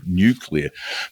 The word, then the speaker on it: nuclear: Nuclear is a modern word and relates etymologically to the word nucleus. It's just the two syllables, no more, but a lot of people from a couple of US presidents down give it the same syllable count to that word like refrigerator.